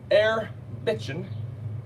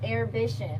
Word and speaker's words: Air Bishop: my good friends at air bitchin right is that how we pronounce that name it's air bishop air bishop yes have sent us this